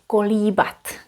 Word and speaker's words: kolíbat: Kolíbat.